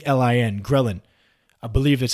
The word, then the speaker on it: ghrelin: body to do there is a hormone called ghrelin GH r e li and ghrelin i believe that's how you pronounce it and this is responsible for causing